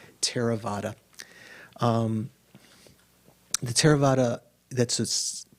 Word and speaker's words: Theravada: it a theravada right that th is just an aspirated t so it's not pronounced theraa it's terra like a aspirated t terravada um the terravada that's